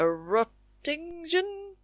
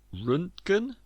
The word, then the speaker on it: Röntgen: They call it a Rottingen? Is it a how do you say it? I think it was invented by William Conrad Röntgen.